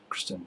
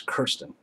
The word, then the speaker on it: Kirsten: I'm going to say her name incorrectly because I'm more used to the Kristen, but it's Kirsten. Yeah, I wrote a response, and I can see why I don't handwrite letters anymore.